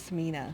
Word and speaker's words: Sinema: Kirsten, how do you pronounce her name? Sinema or Samina? I thought it was Samina.